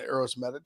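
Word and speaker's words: Uroš Medić: Is that Medic? Is that how you say it? Yeah, Uros Medic.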